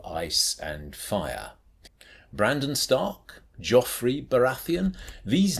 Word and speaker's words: Joffre: Joffrey has nothing to do with Joffrey, which is anyway pronounced something like Joffrey.